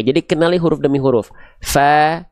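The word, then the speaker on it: ف: Fa ada nafasnya keluar jangan sampai pa ya. Jadi enggak ada hilang nafasnya. Salah ya.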